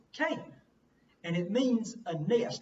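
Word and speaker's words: קֵן: This word is just a kuf and a nun, and that's how you pronounce it, Cain.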